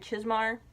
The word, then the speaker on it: Chizmar: Wendy's Button Box, which he co-wrote with Richard Chizmar.